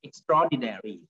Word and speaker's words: extraordinary: thing that's up extraordinary now this word is pronounced extraordinary i don't say it's not ordinary extraordinary so